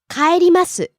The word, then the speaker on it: 帰ります: 電車 or 電車 Next we have 帰ります to go back home, to return. 帰ります帰ります Rising on the second syllable and falling on the last syllable.